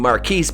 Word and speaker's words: Marquise: Also, the original Joker, Cesar Romero, was Cuban, so the CW's idea that having Marquise, pronounced Marcus because he's a motherfucking retard, play the JOC, or Joker of Color, was so super stunning and bravesies and so original.